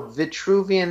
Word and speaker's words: Vitruvian: No, Vitruvian is like V-I-T-R-U-V-I, kind of like virtue. Yeah, virtue. Let me look it up, because in English it doesn't carry the R with it. Vitruvian, V-I-T-R-U-V-I-A-N, I think is it.